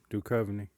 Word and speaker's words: Duchovny: Duchovny. Duchovny?